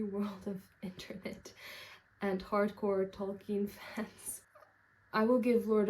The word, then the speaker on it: Tolkien: I think he himself pronounced his name Tolkien. Like the German pronunciation.